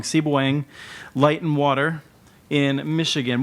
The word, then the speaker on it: Sebewaing: me how to pronounce it correctly it's uh pronounced seing you came very close very close very good